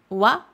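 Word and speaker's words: は: Le wa ici, c'est le thème de la phrase. Je vous rappelle qu'il s'écrit ha, il se prononce wa.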